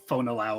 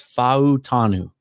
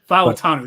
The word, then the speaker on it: Fautanu: I've heard it pronounced like 5 times. Some people just make it into 2 syllables. I think it's Fautanu. Fautanu, that's right.